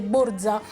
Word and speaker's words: borsa: Ti dico borzella perché tendenzialmente quando il napoletano dice borsa tende a dire borza e i napoletani, si sa, hanno un pochino questo accento, queste cadenze così marcate.